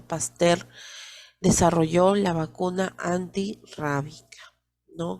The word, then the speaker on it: Pasteur: a louis pasteur claro se escribe pasteur pero se pronuncia pastel desarrollo la vacuna antirrábica